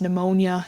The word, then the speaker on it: pneumonia: So watch out for those silent letters. Let me just double check my own spelling. Yeah, it's not an easy one. And we have some examples, also silent letters. Pneumonia is another example. Pay attention to those sort